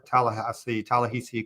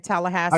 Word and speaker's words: Ta-Nehisi: Wow, did you call the man Tallahassee? I call him Tallahassee. Tallahassee. What is his name? Say his name again. Tallahassee Coates. Nigga, all y'all wrong. It's Ta-Nehisi. Ta-Nehisi Coates.